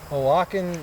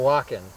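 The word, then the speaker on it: Oaxacan: tonight this is a awaken jewel o a x a n right yeah o a x o a x a c a n joule o o walken i think that's how you pronounce it but look at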